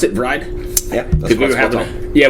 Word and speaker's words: Vreid: delicious sweet so let's talk about bride and actually that's the way to pronounce it bride yeah we were having yeah we were having a discussion before and yeah Ved is the way I always pronounce yeah that's